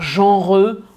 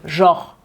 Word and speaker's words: genre: Et souvent, on va le prononcer rapidement. Donc, en fait, on va pas dire genreux, on va dire genre. Limite, c'est genre J-O-R, quoi.